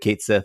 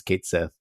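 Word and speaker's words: Cait Sith: like pretty good uh I enjoyed Kate Sith and that's how they pronounce it in this game uh for the record yeah it's Kate Sith um but the thing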